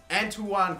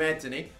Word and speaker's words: Antoine: We ended up getting Antoine Griezmann. Yes, I'm sorry I was saying it wrong the whole time, calling him Anthony.